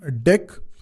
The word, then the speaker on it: deque: तो डी ई क्यू यू ई इसको pronounce करते हैं हम डेक लेकिन लिखने में ये ऐसा है।